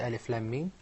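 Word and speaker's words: الم: not pronounce them rather we pronounce their names what difference does it make Mustafa if I pronounce their name we will say Alif LAAM Meem but if it is the world first one I'm going to say LM there was an Islamic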